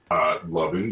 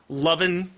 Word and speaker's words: Lovyn: And it just said, and so his name is spelled Lovyn. And now you see painted in full on the sign, it says Lovin, spelled like that, Lovin these deals.